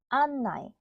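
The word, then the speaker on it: 案内: 온도는 오 은도 온도 온도 안내는 아 은나이 안나이 안나이 연락은 레은 나쿠 렌라쿠 한국은 카코쿠 카코쿠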